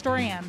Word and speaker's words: Duran: My name's Duran. Duran, like Duran Duran. I'm a fan, but yes, it's spelled differently.